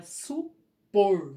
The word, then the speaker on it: supor: Olha aqui, ó, supor não é acentuado, mas a última sílaba tônica é o por. Então é supor.